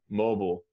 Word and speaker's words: mobile: in britain and the i is like a long i sound so it sounds like the letter i i mobile mobile bio but you yeah but you still want to emphasize the the first syllable mobile mobile mobile mobile